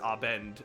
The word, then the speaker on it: Abend: Abed is pronounced Abend, accent on the A, by the way, thank you.